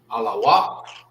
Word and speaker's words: alawak: Alawak. Alawak means, hold on, let me break it down for you real quick. That's la wap. All right. This is pronounced by itself, and this is pronounced together.